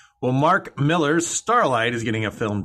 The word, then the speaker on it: Millar: and they were like it's pronounced miller it's not malar i don't know mark